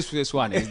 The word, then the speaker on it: Swane: Swane, even though I spell it with an R. Yes. Swane. You can say Swane. That's the correct one.